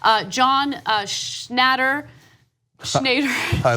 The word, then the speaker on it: Schnatter: a conference call John Schnatter major I like a shoe matter that is how his name should be pronounced this sucks so much